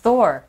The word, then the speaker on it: Thor: 토르를 어떻게 발음해야 돼요? Thor.